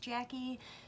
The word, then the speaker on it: Jacqie: Yes, I know, I spell it very strangely, but it is pronounced Jacqie, just like the way if it was spelled normal you would pronounce it.